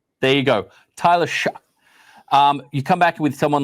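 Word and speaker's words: Shough: Shuck. There you go. One more time for everyone at home, Phil. Shuck. There you go. Tyler Shuck.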